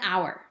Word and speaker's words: hour: so we use an the next one is tricky an hour right here we have h and h is not a vowel letter but notice the sound that this word makes ah ah it's not the h that we hear it's the ah from the o that we hear so this is also a vowel sound right from this letter the next one is